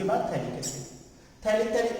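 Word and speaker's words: phthalic: थैलिक क्यों बोल रहे हैं? स्टार्ट तो करते हैं TH से। इंग्लिश का कमाल है, साइलेंट होते हैं, पता नहीं ऐसे ही नाम का आता है।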